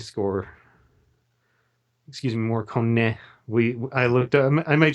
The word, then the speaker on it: Morricone: it with is it sounds like an Ennio Morricone score. Excuse me, Morricone. I looked up, I made sure to listen to the pronunciation so it wouldn't sound like an idiot.